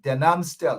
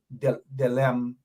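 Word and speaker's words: Den Amstel: Maybe, I know Rhonda Lane doesn't have the number, but tell Jagdeer that the correct pronunciation for Denanstel is Denanstel, not Delemstel.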